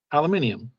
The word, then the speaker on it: aluminium: alumini copper alumin Hopper you know how they pronounce aluminum in uh in Britain aluminium Alum aluminium yeah let's